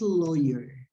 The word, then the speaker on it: lawyer: Be careful between the pronunciation of this word. This is layer. This is layer. ozone layer. You put the ingredients in layers. Layer. Different from this one that is lawyer. This is lawyer. Okay.